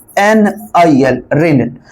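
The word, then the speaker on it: Ranil: इनका नाम है रेनिल। रेनिल आर ए एन आई एल रेनिल।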